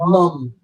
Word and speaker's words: mum: Gotta say it like mum. Mum.